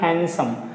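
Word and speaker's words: handsome: हैंडसम। हैंडसम डी को pronunciate नहीं करेंगे।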